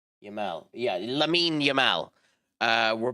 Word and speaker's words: Yamal: um Lenny Lemens what the how do you pronounce it? Um Yamal Yamal.